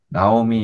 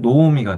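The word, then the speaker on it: נעמי: 이제 그게 대표적인 게 나오미가, 원래 우리는 나오미 이렇게 하는데 나오미 뒤에 쉐바가 나와요. 그래서 원래 실제 발음은 노우미가 돼요.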